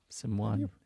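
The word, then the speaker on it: S1m0ne: All right, let's do our I've never pronounced it that way. Sim one. It's always Sim one. It's Simone. It's like the actress's name.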